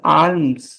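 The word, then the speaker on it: alms: comes भिक्षा भिक्षा means आर्म्स okay या आलम्स आर्म एल is silent L is silence आर्म्स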